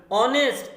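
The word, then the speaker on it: honest: है एन लेकिन देखिए स्टूडेंट ऑनेस्ट ये एडजेक्टिव तो ये हा से शुरू हुआ है यानी ये तो कॉन्सोनेंट है लेकिन ऐसा नहीं होता है स्टूडेंट कभी कभी हमें स्पेलिंग नहीं देखनी पड़ती है हमें प्रोनॉन्सिएशन देखना पड़ता है और जब प्रनंसीएशन 12 खड़ी आई है तो हम वहां एन ये आर्टिकल लगाते हैं स्टूडेंट तो देखो ये ऑनेस्ट नहीं होता है स्टूडेंट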